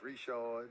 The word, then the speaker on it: Richard: them the New Orleans I was pronouncing their names like they were from New Orleans yeah no it didn't work I know it doesn't work that way Richard was reshold yeah the sheen was DeJean uh Barris was Bara swung